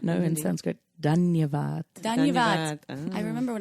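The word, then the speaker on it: धन्यवाद: Dhanyavad. Dhanyavad. Dhanyavad. I remember when I was in India, but it's been so long now, over right. 10 years. Dhanyavad.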